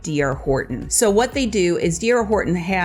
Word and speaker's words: D.R. Horton: Now, sometimes when people first start to look at that name, D.R. Horton, they think it's Dr. Horton, but that's not how it's said. It's just D.R. Horton. It's the gentleman's initials.